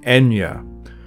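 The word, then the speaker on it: Eithne: The name Ethnu, now pronounced Enya, which of all the gods Lugh is most connected to, is related to the word Ethach, meaning cattle.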